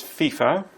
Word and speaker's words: FIFA: The acronym is FIFA. That's how it's pronounced.